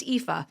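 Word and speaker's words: Aoife: o i f e so it's it's it's pronounced epha so when you're looking her up online you're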